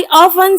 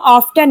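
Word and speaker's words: often: आई ऑफन सी हिम। आई ऑफन सी हिम या आई सी हिम ऑफन। आई सी हिम ऑफन, यहाँ ऑफन में T silent होता है, इसको हम ऑफ्टन नहीं ऑफन पढ़ते हैं।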